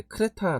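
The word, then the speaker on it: Κρήτη: 어 이제 그래 대라고 보통 반응하지 않고 예 크레타 라고 밥을 발음을 하는 곳입니다 어제 찾아보니까 크리스 에서 굉장히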